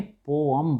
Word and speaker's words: poem: इसको हम एक्चुअल में पोअम बोलते हैं। क्या बोलते हैं? पोअम। Okay, real correct pronunciation क्या है? पोअम।